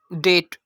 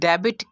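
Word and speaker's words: debt: यहाँ पर इसको डेबिट नहीं कहेंगे बल्कि इसकी प्रोनाउंसिएशन होगी डेट। तो यहाँ पर हम देख सकते हैं कि बी से पहले वॉवल आ गया और बी के बाद टी आ गया।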